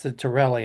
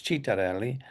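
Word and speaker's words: Ciattarelli: Mickey Sherrill, a Democrat, or well, in English it's Citarelli, and in Italian it's Citarelli, uh, representative endorsed by Trump.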